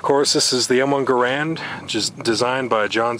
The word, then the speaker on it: Garand: Of course, this is the M1 Garand, just designed by John C. Garand. Notice the pronunciation difference there.